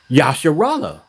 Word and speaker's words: Israel: I tried to I even explained to him that Israel is not Israel. It's pronounced Yasharallah, because the I is in Hebrew is not is I.